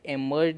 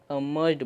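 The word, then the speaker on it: emerged: ही बोलते हैं इसे, लेकिन इसे एमर्ज्ड नहीं, इसे अमर्ज्ड बोलते हैं, अमर्ज्ड। इसे अमर्ज्ड पढ़ा जाता है। ये करेक्ट प्रोनाउंसिएशन इसका यही होगा।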